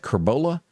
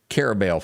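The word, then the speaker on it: Carrabelle: The town that it's going to pick on right now will be, is that, you pronounce that Carbola? Carabel, Florida.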